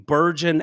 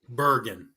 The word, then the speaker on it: Bergen: sites in seven New Jersey counties, um, including Burgon, Essex, Mercer, Middle Sex, Monmouth, Ocean, and Payic. Uh, I could be mispronouncing some of those. While voting machine failures, what's that? Bergen.